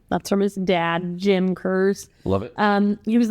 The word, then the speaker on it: Kerze: Um, and so we're going to be talking about 17-year-old Christopher Kur, I believe is how you pronounce his name.